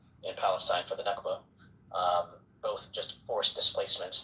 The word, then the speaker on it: Nakba: uh in in Palestine for the Nakba.